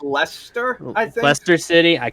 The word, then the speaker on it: Leicester: along needless to say i believe it's pronounced lester i think leicester city